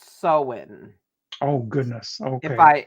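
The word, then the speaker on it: Samhain: um the one I the word I know I'm very familiar with is Sam Hayne s-a-m-h-i-n which I think is actually pronounced so in oh goodness okay if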